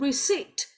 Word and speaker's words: receipt: Now everybody, the word receipt, P is silent.